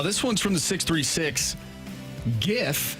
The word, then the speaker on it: GIF: one's from the 636 GIF has a hard G when in doubt lean